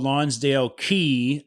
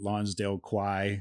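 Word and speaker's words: Lonsdale Quay: i was pronouncing it lonsdale quai okay or something like that but it's it's i think it's pronounced key we literally stayed up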